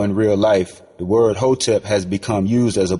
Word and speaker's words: hotep: under the crooked american system too long hotep pronounced hotep a word from the language of ancient egypt